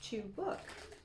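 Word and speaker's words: Çubuk: Chubuk, pronounced chubuk.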